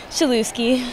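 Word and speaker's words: Chelewski: name can you say it for folks please chuki chuki will you spell that real quick one time c h e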